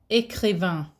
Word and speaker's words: écrivain: Écrivain. Écrivain. Or écrivaine. Changes the pronunciation, okay, as well as the spelling.